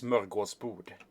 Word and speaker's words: smörgåsbord: That's a Swedish word, and it's actually supposed to be an there and an å here, so it's smörgåsbord.